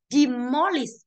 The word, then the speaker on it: demolish: Và demolish và từ most âm số 2.